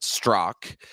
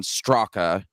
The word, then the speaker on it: Straka: well it's my so it's spelled straca just like you have it there on the screen but it's um my family pronounces it strzok um to be clear i don't care if people mispronounce it because it's i mean i grew up most of my life with about 90 of people saying brandon straka and the people who know me well say brandon strzok and i am equally comfortable with both pronunciations so and that you're